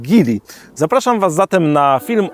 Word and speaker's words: Geely: Ja do niedawna też myślałem, że to jest Gil, ale okazuje się, że prawidłową wymową jest Gil.